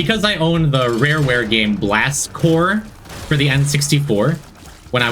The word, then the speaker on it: Corps: So I pronounced it Blast Corpse all the time.